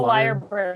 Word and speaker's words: lyrebird: Lyre? L-Y-R-E? Lyre? That's a liar bird.